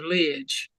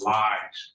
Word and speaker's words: Lige: Lidge. Okay. It's Lige, but you can get the correct pronunciation and get in there.